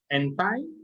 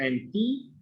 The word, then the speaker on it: anti: The first one, both are acceptable, anti or anti. Okay. Normally, people will pronounce it as anti something when they really want the stress on the meaning that is against something.